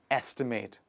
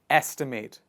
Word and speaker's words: estimate: next word is estimate the focus of the pronunciation goes on the first part of the word estimate please repeat after me estimate estimate is the critical